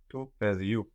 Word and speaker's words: παιδιού: Του παιδιού. What do you notice about the accent here? The poo is stressed, not the e.